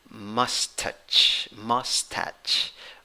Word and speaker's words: mustache: The stressed syllable is the first syllable. You have a schwa there in the first syllable. In the second syllable, you have a long A. Okay? It is the A that laughs. Okay? Like ah.